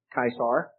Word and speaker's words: Caesar: that is more like kaisar those of you who if you ever studied latin c is normally pronounced as a k but the german pronunciation